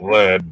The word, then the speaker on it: Lead: It's spelled like lead, but it's Lead, South Dakota.